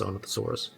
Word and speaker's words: Sinornithosaurus: I think it's Sinornithosaurus. Yes, Sinornithosaurus.